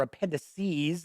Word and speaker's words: appendices: plus a town base appendix is of or appendices as some people pronounce it of additional monsters and characters and